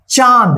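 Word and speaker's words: चाँद: ठीक, चलिए यहां पे देखिए चांद, इसका जो है ना चंद्रबिंदु का कहीं पे आधा न के भी में उच्चारण होता है चांद।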